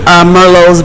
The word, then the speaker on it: merlot: some people may look at it and say merlots but the proper pronunciation is merlot merlot merlot is a red